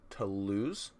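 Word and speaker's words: Toulouse: I've been told that this settlement is pronounced to lose to lose so we're going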